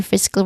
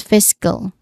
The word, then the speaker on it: fiscal: Pronunciation wise, there's two distinct sounds. The stress is on the first syllable. Fist. So fiscal. Fiskll. It sounds like fish but without the letter H sound.